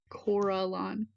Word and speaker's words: Corellon: Corellon. Here you go, Heather. Let me see if she is not in No. the pronunciation guide.